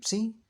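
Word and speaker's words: psi: este caso para sí letra griega que es así se pronuncia sí como una especie de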